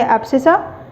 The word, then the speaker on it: abscissa: System में बात करेंगे तो उसे हम बोलेंगे एब्सिसा। Okay, एब्सिसा। ओके, हाँ, एक्स एक्सिस राइट स्पेलिंग यही है, ABSCISSA।